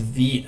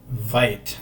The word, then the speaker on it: Vite: so getting started um this is pronounced V I have a tendency to say Vite all the time so if I